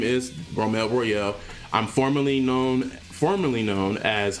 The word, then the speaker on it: Romel: So for those who misinterpret and said it wrong, it is Romel. Like roll, like the Rome. So it's Rome. Just add the L. So Romel. So that's how you say Romel.